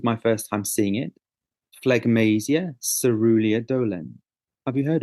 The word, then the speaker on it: phlegmasia: Phlegmasia cerulea dolens.